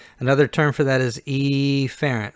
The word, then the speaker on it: efferent: term for that is efferent with the stress on the E now again you can pronounce it efferent but I'm going to say efferent so we hear the